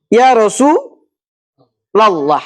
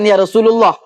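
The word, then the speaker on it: يا رسول الله: dalam segi nahwunya salah ya rasul lallah n betul bukan Ya Rasulullah apalagi ya rasulillah Kenapa begitu ketika dua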